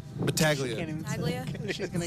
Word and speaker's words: Battaglia: Tegula? Battaglia.